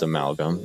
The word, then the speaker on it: amalgam: Tower because it sucks also yes that's how you pronounce it it's amalgam it's the short short version of the word amalgamation so yes it's an it's amalgam but yeah I think